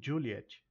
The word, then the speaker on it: Juliett: A gente destaca também a pronúncia do Juliet começando com esse D mudo, ok? Pronuncia-se sim, e não é Juliette, é Juliet. Juliet, com tônica na primeira.